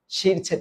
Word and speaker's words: শিরচ্ছেদ: হচ্ছে এরকম এইযে মানে শিরছেদ করে দেওয়া এটার উচ্চারণ হচ্ছে শিরছেদ এরপরেরটা কি এইটা দেখো